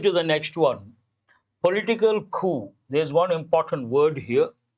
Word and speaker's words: coup: Coming to the next one, political coup. There's one important word here. The letter P is silent.